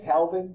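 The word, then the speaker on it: calving: Calvin the other day Calvin you pronounce the L or not it's up to you oh that's EAS to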